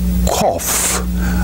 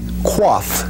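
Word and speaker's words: Qof: May I pronounce it for you? Kof. Or I will probably correct for you, if I may use that terminology, quaff, quaff, kof, that letter.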